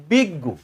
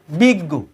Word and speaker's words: বিজ্ঞ: অং গ অর্থাৎ জ্ঞানহীন অথবা মূর্খ এরপরে দেখাচ্ছি বিজ্ঞ উচ্চারণ কিরকম বিজ্ঞ এখানেও কিন্তু বর্গীয় জবা বা ইয়োর কোন উচ্চারণ